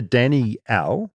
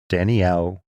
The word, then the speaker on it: Danielle: in the Southern Hemisphere, we pronounce it with 2 syllables, as it is a combination of 2 names, Danny and Al. Whereas in the North, it tends to get combined into 1 syllable, more like Danielle. Sounds like you said Daniel, though. Danielle. So it's either Danny-Al or Danielle.